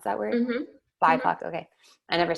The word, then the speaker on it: BIPOC: Do you actually pronounce that word? Mm-hmm. BIPOC.